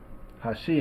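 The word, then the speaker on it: 橋: first Mora huh um in Hashi the accent is on the second Bora she and in the third word Edge how she um neither Amora is accented um so when I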